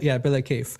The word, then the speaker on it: bila kayf: If you write this down, it's spelled Bila, and then space K, Kayf. Kayf. It's called Bila Kayf.